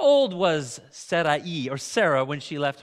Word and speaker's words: Sarai: I'm not actually sure how to pronounce it with the I. Sariah or Sarai or something. Sarai.